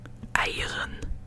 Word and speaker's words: eieren: Eieren.